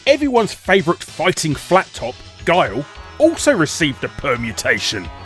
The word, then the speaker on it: Guile: One more thing, I've heard a few people adamantly insist Guile is pronounced Gwil, and I've absolutely no idea where that came from.